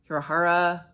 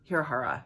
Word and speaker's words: Hirahara: and Division by Naomi hirohawa hirahara hirahara that's how you say it um I read